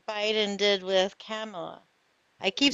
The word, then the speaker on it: Kamala: Kind of like Biden did with Kamala. I keep saying Yeah. her name wrong. Camilla, sorry. Kamala. Thank Comma. you. Kamala. La. Like a comma. Thank you. Kamala. Comma. La.